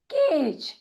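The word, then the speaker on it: cage: लेकिन क्योंकि यह शब्द ई से समाप्त हो रहा है, इसके लिए हम उसके पहले आने वाले स्वर का नाम लेंगे और वह हो जाएगा केज।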